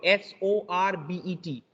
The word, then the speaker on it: sorbet: In French word, there is nothing called T. It means there is no pronunciation of T. T ka kabhi pronunciation nahi hota. It says sorbet.